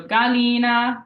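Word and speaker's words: gallina: Go in English for example Galina so Galina has that g followed by an A so it's a hard G sound and Galina means means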